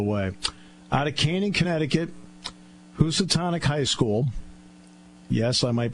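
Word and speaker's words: Housatonic: class all the way out of Kanan Connecticut who satanic High School yes I might be one of the few people that can pronounce it correctly right you're right uh and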